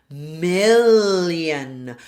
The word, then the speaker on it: million: Watch out for million. So we have now an a sound mill followed by that voiced L tip of the tongue here roof my mouth me and now it sounds like a glide is in there a Y sound me Y. So we have the Y sound.